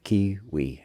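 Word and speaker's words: Cui-ui: It's not like quinoa. It's not that. It's C-U-I-U-I, kiwi, as I believe the correct, or pretty close to the correct pronunciation.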